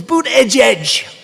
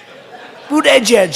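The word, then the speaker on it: Buttigieg: i think it was boot edge edge boot edge edge they said think of it as boot and then edge edge because nobody can pronounce this guy's name nobody boot edge edge they say buddha edge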